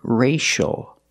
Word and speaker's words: racial: word racial we see CIA that is the letter c before the two vowels I and a the C makes the sh sound like shoe and show the word is racial the a makes a